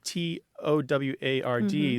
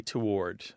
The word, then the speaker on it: toward: the English spere say toward they say it toward they say it like it's written they pronounce the W it's two syllables not one you know I think